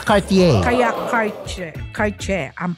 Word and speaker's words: Cartier: Bilang nasa Paris ako, di po pinopronounce ang letter R. Kaya nga Cartier.